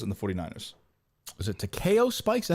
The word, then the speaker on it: Takeo Spikes: Was it Takeo Spikes? Is that how you say his name? Yeah. Is that right? Should Yeah, be. that's right. Yeah, That's what it is. Takeo Spikes.